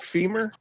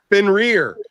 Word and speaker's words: Fenrir: Did you you called it femur? You suck. How do you say it? Fin rear. Finn as in like a fish. Finn and then rear as you can kiss my ass. Finn rear.